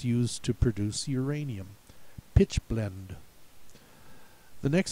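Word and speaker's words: pitchblende: the next word also has it should be pronounced pitch blender in German but we pronounce it pitch blend so don't get fooled by that trap either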